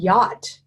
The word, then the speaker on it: yacht: you can see here the grayed out CH it's not pronounced with the little Ozzy Oswald glyph over the a it says ah and they can sound